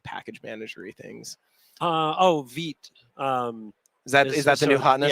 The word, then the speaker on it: Vite: Vite. Is that the new hotness? Yeah. All right. Yeah. How do I spell that? VITE. VITE. It's the French word for fast.